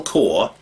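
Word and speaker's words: Kaur: called phil corey wired phil core k-a-u-r i think that's how you pronounce it core who was saying um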